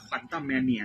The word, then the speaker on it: Quantumania: แนุ มา อ จริง ๆ ก็ อ่าน ว่า quantum mania นะ ครับ ผม ก็ ภาพยนตร์ บาง ค บาง